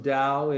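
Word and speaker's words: Tao: flow or in the dao is that how you said it too yeah it's spelled t-a-o it's pronounced dao in uh chinese dialect one chinese dialect mandarin and it's the flow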